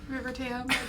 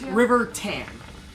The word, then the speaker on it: River Tam: the dragon which would not have been good river tam can kill you with my brain okay it's river tan pan apparently when i pronounced it sounds like river tan um anyway